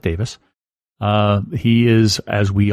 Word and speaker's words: Davies: Davis uh Russell T Davis by the way it's spelled Davies but he pronounces it Davis uh he is as